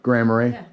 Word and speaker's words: Grand Marais: know a place like grand marais did i say it right by the way yeah grammary and um you know